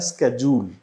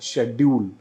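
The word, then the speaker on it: schedule: पहला तो American pronunciation इसका है स्केड्यूल, और अगर मैं ब्रिटिश प्रोनाउंसिएशन की बात करूं वो है शेड्यूल, और अगर मैं तीसरी बात करूं जो आजकल दोनों को ही मिक्स करके बोल देते हैं वो है स्केड्यूल। स्केड्यूल कहीं भी डिक्शनरी में गिवन नहीं है। स्केड्यूल आपका अमेरिकन प्रोनाउंसिएशन है और शेड्यूल जो है वो आपका ब्रिटिश प्रोनाउंसिएशन है।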